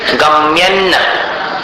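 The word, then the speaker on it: गम्यं: नित्योदयन दलित मोह महांधकारम, गम्यन्न यहां पर अनुस्वार का उच्चारण न के समान, अन्न के जैसा।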